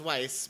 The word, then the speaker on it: Weiss: It's Weiss, but continue.